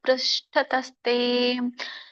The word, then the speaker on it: ಪೃಷ್ಠತಸ್ತೆ: ನಮಃ ಪುರಸ್ತಾದತಃ ಪೃಷ್ಠತಸ್ತೆ ನಮೋಸ್ತುತೆ ಸರ್ವತ ಏವ ಸರ್ವ ಅನಂತವೀರ್ಯಾಮಿತ ವಿಕ್ರಮಸ್ತ್ವಂ ಸರ್ವಂ ಸಮಾಪ್ನೋಷಿ ತತೋಸಿ ಸರ್ವಃ. ಇದರ ಒಂದು ಉಚ್ಚಾರಣೆ, ನಮಃ ಪುರಸ್ತಾದಥ.